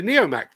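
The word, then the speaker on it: Neomac: Right, the Neo Mac, pronounced Mac, is the work of Main Engineering.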